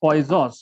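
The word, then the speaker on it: Poisson: known as poison ratio it is pronounced as poison poison ratio but thus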